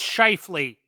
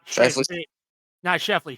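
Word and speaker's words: Scheifele: Um, it's pronounced Schiffley, not Shaffley.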